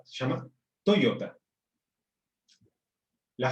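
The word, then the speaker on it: トヨタ: Y la compañía de autos no se llama Toyota, se llama Toyota.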